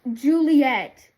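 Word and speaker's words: Ghiuliyette: Yeah, it's like I'll I'll either underline that or it's spelled G H I U L I Y E T T E pronounced Juliet.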